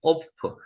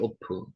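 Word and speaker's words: עוף: 오프. 여기 점이 위에 찍혀 있으면은 요게 오 발음이 된다고 말씀드렸죠. 오프.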